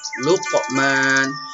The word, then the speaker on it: Luqman: Nah, jadi qaf itu kalau dia mati bacanya luqa. Nah, gitu nak ya. Luqman.